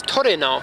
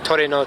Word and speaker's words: Trueno: So, 1986, it says Trueno, which is the Japanese pronunciation. I just call him Trueno because I think saying Trueno takes too much effort.